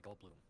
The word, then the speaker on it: Goldblum: I play Goldblum. His name rhymes with Doom.